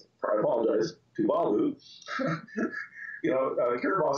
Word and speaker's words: Tuvalu: I've got islands like Tuvalu, and I pronounced that wrong. I apologize. Tuvalu.